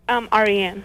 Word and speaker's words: Ariane: Ariane. Hi. Is that how you say it? Ariane.